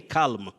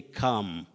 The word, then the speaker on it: calm: That L should not be pronounced. Just like many people find themselves saying calm. Don't say calm, say calm.